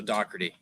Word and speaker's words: Doherty: We're going with a CK sound, so it's Doc, like DOCK, as if it were. So Doherty.